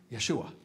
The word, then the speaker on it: Yeshua: Yeshua, which we translate as Jesus, right? Now, Yeshua, how do we pronounce that name in a Hebrew derivation? Is Joshua, Yeshua.